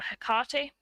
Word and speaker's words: Hecate: are apparently associated with hecate or hakati i suppose you would pronounce her name and she is definitely